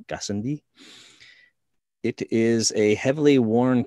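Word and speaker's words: Gassendi: kilometer wide crater uh try to pronounce this correctly gascindi it's a french name gazendi it is a heavily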